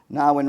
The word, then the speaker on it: Gnarywn: Otherwise, more commonality and I's Unit 5 at 33 Gnarywn Road here in Carnegie. Pronounced with the silent G like my name.